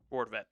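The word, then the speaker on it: Rortvedt: Brett Roarvent, how do you pronounce Ben? Ben Roent.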